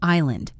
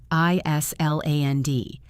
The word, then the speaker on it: island: What about island? I-S-L-A-N-D. Island. The S is silent. You say island. Island. No S.